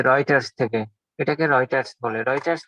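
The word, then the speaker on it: Reuters: রিইউটার্স, রিইউটার্স এটা আমরা যখন বানান করি এভাবে বলি, কিন্তু মূল অর্থ হচ্ছে রয়টার্স, মূল শব্দ হচ্ছে রয়টার্স।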